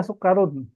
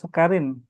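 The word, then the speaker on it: سُكَّرٌ: Sukarnya dia sukarun. Sukarun bukan sukarin. Karena yang yang najrur itu kan diacinya bukan di gulanya.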